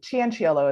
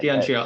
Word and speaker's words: Cianciolo: Cianciolo is how we pronounce it, the Italian side. Cianciolo.